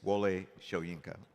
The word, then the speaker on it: Wole Soyinka: It's Wole Soyinka, by the way.